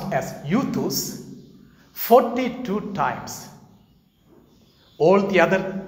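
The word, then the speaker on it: εὐθύς: In fact, Mark the Evangelist uses this word immediately in Greek, pronounced as euthus, 42 times.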